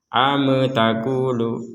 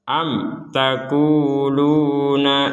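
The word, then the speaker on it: أم تقولون: pernah ee ya tidak tidak boleh kita mengucapkan huruf e di antara am sama takulu am takulu am takulu jadi itu tidak benar yang benar adalah kita harus membacanya dengan jelas am taquuluna Inna Ibrahim nah seperti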